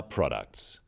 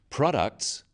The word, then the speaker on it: products: In words, one syllable is stressed. The wrong stress makes it hard to understand. So, conclusion, not conclusion. Products, not products.